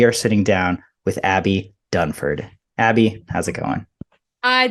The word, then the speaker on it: Dunford: And on the video, I said your name wrong. I said Abby Dunkin, not Abby Dunford.